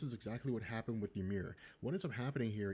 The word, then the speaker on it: Ymir: I think it's pronounced Ymir. It's Y-M-I-R.